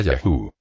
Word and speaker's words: YHWH: En todo caso sería el Dios Yod, G, Bat, G, o lo que sería Ye, H, W, H, que se cree se pronuncia Yahú.